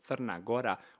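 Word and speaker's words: Crna Gora: black so it's actually in my language called sarnagora which technically means Black Mountain right they just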